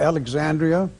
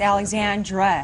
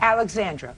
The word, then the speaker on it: Alexandra: Audrey and uh Alisa he's saying his the oldest daughter's name wrong and it spell wrong also a l e x a n d r i a no I there's no I it's Alexandra Alexandra oh you so you